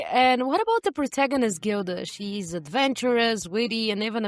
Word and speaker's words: Gilda: into a fight over whether her name should be pronounced Gilda or Gilda, because I was like, if it's Gilda, it's from the Gilded Age, where everything is gilded in gold. It should be Gilda.